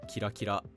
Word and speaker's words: キラキラ: If you have an onomatopoeia word like kira kira, it's pronounced flat in isolation, but when modifying a verb, it becomes atamadaka.